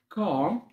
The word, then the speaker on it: calm: بعد كده break time اللي هي الفسحة، best friend أفضل صديق، best friend، worried يعني قلق، extra معناها إضافي، calm هادئ، calm طبعا ال silent، relaxed الدي هنا بتنطق